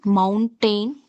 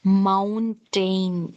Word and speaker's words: mountain: So few people pronounce this as mountain, tain, tain, but it is not tain. It is ton, mountain, mountain.